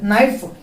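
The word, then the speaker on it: knife: Next ನೈಫ್ K silent ಆಗಿ ನೆನಪಿಟ್ಟವ್ರಿ. ನೈಫ್ ಅಂತಾರ ಒಬ್ರು, ಅದು ಕೆ ಬರಂಗಿಲ್ಲ. ಕೆ ಬಿಟ್ಟರೆ ನಾವೇನು ಮಾಡ್ಬೇಕು, ಏನ್ ಅಷ್ಟ ಉಚ್ಚಾರ ಮಾಡ್ಬೇಕು. ಕೆ ಏನಪ್ಪ ಅಂದ್ರೆ ಸೈಲೆಂಟ್ ಆಗೈತಿ.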